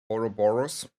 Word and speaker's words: Ouroboros: Well, I think we talked about this once, how to pronounce it, but I forgot it again. Ouroboros.